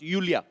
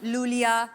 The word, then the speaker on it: Iulia: Pronounce यूलिया। यूलिया। एंड the spellings are आई यू एल आई ए सो आई आई you know I mean why I everyone is calling me लूलिया लोलिया बट लोलिया लोलिया I like because it's